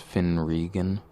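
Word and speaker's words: Fionn Regan: Well, I've always liked this Irish singer-songwriter, I think it's pronounced Finn Regan, but it's spelled like Fionn.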